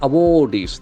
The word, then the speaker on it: awardee: The last syllable gets heavy accent.